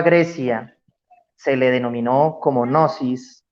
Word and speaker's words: gnosis: se le denominó como gnosis o no o si es como se pronuncia en griego pues realmente es una